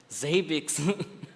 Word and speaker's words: Zabbix: yeah and what you say it's the right pronunciation that you defend like the zabix zabix zabix I call it zabix so it's zabix guys thank you thank you again